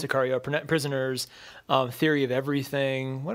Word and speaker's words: Sicario: He has done, it looks like most of the other Denis Villeneuve movies, like Cesario or how you pronounce it? Sicario, Prisoners, Theory of Everything.